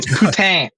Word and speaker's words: poutine: Um poutine, thank you very much. You'll You'll You'll announce my regional delicacy with correct French accent. Thank It's pronounced like poutine?